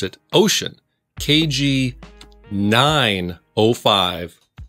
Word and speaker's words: Wouxun: wookson for those that don't know how to pronounce it ocean kg 905 5 watt handheld gmrs walkie